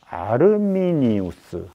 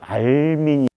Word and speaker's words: 아르미니우스: 그럴 때 꼭 언급해야 하는 인물이 바로 아르미니우스, 또 아르미니우스, 알미니우스 이렇게 다양하게 발음이 되는데요.